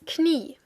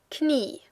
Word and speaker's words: Knie: Das Knie, the knee, Knie. Notice how it's almost spelled like in English, but you do pronounce the K, so watch out for that.